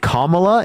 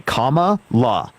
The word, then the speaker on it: Kamala: there we go dude commala is not hard to say Comm La is it really that